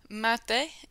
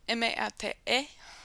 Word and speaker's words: mate: One quick pronunciation note, make sure that you say mate, M-A-T-E, or M-A-T-E, not mate. Remember, because mate is that preterite form verb tense of the verb matar, which is to kill, and mate means I killed.